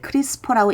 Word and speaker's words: CRISPR: CRISPR이라고 쓰고 읽기를 크리스퍼라고 읽는 이 이름은 Clustered Regularly Interspaced Short Palindromic 리피츠라는 긴 이름의 각 앞 글자를 딴 이름입니다.